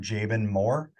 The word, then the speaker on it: Jaban Moore: to find me you just look up Dr jaben Moore my name is spelled j a b as in boy a